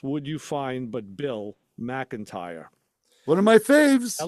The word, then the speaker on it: McIntyre: On here, it's written MAC-IN-TIRE, McIntyre.